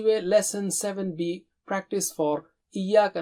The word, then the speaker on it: إِيَّاكَ: Don't say Iyyaka. No, Iyyaka. So repeat 3 times. Iyyaka.